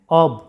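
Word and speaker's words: of: প্রায় সবাই প্রায় 90%ই স্টুডেন্টরা উচ্চারণ করে থাকো অফ কিন্তু এটার উচ্চারণটা অফ নয় এটার উচ্চারণটা হবে অব আইপিএ সিম্বলটা দেখো এখানে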